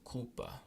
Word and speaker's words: culpa: All other times it's pronounced like a K. So culpa, my fault, mea culpa.